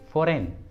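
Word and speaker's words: foreign: और एग्जाम्पल देखिए फॉरेन, फॉरेन, देखिए इस इंग्लिश वर्ड में भी एन के पहले जी आया है इसलिए जी को उच्चारण नहीं करेंगे, इसलिए सही उच्चारण होगा फॉरेन, फॉरेन।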